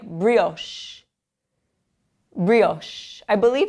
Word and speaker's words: brioche: This word right here is not an Italian word because usually in Italian, the CH word combination sounds like K. And so in this word, you actually pronounce it like brioche.